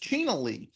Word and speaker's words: China Lee: was a Playboy uh it's pronounced chin Le she was a Playboy